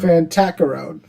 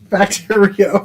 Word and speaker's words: Factorio: Fantacaro. Factorio.